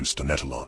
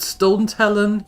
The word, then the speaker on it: Stonetalon: Whoever called it Stone Talon, you're wrong. It is pronounced Stonetalon.